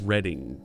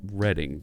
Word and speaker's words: Reading: so we're uh we're almost there also the Reading Railroad in monopoly yes reading right the the folks around here and I believe in the UK also it's pronounced reading not reading yeah so that's a thing alright